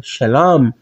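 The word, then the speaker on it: שְׁלוֹם: Não pronunciamos como Shá, mas como Xé. Você sabe que o Shiva, né, tem um som de um pequeno E. Então pronunciaríamos como Shalom.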